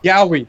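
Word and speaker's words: yaoi: Yowie, that's how you say it.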